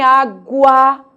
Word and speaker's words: água: Agora, em água, o U é pronunciado.